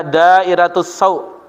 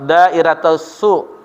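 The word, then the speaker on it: دائرة السوء: ada yang mengatakan assaw para ahli qiraah dari negeri kufah umumnya membaca dairatusu dengan Sin berfathah dairatusu sebagian ahli Basrah itu membacanya dengan SIM berdomah dairatus su dairatus su dan eh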